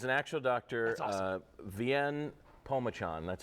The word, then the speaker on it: Vien: Vien Pomachan, that's how you pronounce his name.